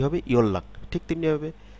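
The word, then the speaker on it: 연락: যেমন খেয়াল করুন, এটি যদি আলাদাভাবে আমরা পড়ি, ইয়ন রাগ, কিন্তু শব্দে যখন আমরা পড়ব তখন হবে ইয়ল্লাক, ইয়ল্লাক।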